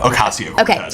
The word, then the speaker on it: Ocasio-Cortez: But this week, Alexandria Ocasio-Cortez, did I say her name right? No, Ocasio-Cortez.